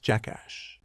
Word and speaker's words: JK Dollar Dollar: Pronounced Jackass.